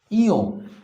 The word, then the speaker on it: ঞ: এখানে অনেকে ভুল করে, লিখে রেখেছি ইয়।